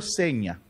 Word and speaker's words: Zegna: que se llama hermenegildo seña se escribe signa pero se pronuncia señal de entrada hermenegildo va